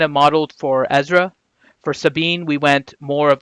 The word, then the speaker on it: Sabine: So Ranger, I know Sabine, not Sabine. Sabine. Yeah, Sabine. I don't like doing the Just pronunciations.